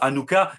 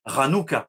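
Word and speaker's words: חנוכה: Donc, on prononce Hanouka, mais en hébreu, on prononce Ranouka. C'est un ret.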